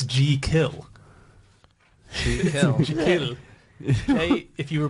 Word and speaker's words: Jekyll: one is we're all saying it wrong it's G kill if you were pronouncing it pronouncing it it's je e and